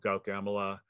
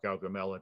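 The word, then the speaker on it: Gaugamela: start with alexander uh i want to do gauche emela uh or gal gamela depending on how you pronounce it uh which is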